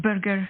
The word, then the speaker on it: Burger: wonderful thank you so very much am I pronouncing your last name is it Burger did I say that correct you know it's Burger the um the four were German and Dutch